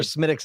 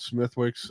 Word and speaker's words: Smithwick's: fan of this and that's i'm pretty sure smitics is the proper pronunciation uh that's life i always called smithwick's um uh i'll i'll take a beating on